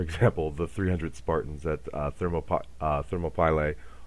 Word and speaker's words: Thermopylae: the 300 Spartans at Thermopylae or as it's mispronounced Thermopylae fighting against those those